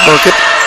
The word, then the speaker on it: Burkett: Or sorry, Josh Burkett, that's how you say his name.